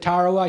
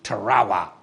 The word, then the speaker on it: Tarawa: to the beach and when I said Tarawa he said Sonny he says it's pronounced Tarawa and the way you